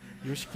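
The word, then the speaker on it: Yoshiki: 근데 그 일본 회중을 담당하고 있는 우리 목사님 성함이 요시키 목사님인데 발음을 잘해야 돼요. 요식 목사님인데 어 그분하고 제가 이제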